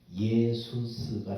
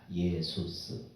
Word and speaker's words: 예수스: 근데 이것이 신약으로 와서 헬라식으로 발음하면은 예수스가 됩니다. 예수스.